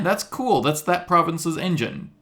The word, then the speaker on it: Engen: It's Engine Books, but people call it, because I didn't spell it like a car engine, it's ENGEN, people will just call it any number of things.